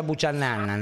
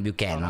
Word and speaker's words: Buchanan: Che comunque si pronuncia Buchanan, non Buchanan.